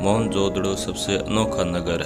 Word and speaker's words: मोहनजोदड़ो: video को पूरा देखें मोहनजोदड़ो सब का सही उच्चारण है मोहन जोदड़ो सिंधी भाषा में इसका